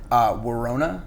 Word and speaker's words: Worona: Worona. It's like Corona. Okay. We've talked about this before. Actually, pretty much daily. It's like a daily conversation with us. All right. It's just Worona.